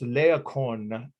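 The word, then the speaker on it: Laocoön: tell you the name of it uh it's leokon if you want to know the name i'll spell it but you don't have to write this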